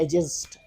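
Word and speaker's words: adjust: लेट me right here, ये हम बोलते हैं एडजस्ट, एडजस्ट। तो ये बिल्कुल ऐसा नहीं, आपने इस तरह नहीं बोलना। आपने जब इसको प्रोनाउंस करें तो आपने कहना एडजस्ट। एडजस्ट क्यों कहते हैं? Because D एंड J combination आए है, और मैंने कहा भी है कि डी जे या डी जी जब आ जाए तो तब आपने डी को साइलेंट कर देना है।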